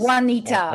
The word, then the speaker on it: Juanita: Juanita. Or maybe the J is it's pronounced as a Y.